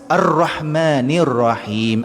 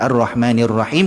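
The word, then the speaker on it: الرحمن الرحيم: baik seterusnya saat lafaz arrohmanirrohim arrahmanirrahim kita Sekali lagi saya katakan jangan kita membacanya dengan muncung arrohmanirrohim bunyinya sedang online kalau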